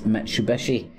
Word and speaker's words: Mitsubishi: Japanese often bend the H sound to a B which when it occurs in the middle of the word together, combination of Mitsu and the Hishu pronunciation as Mitsubishi.